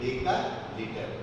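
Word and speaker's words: decalitre: DAL दाल नहीं बोलने का, तो इट इज डेका लीटर।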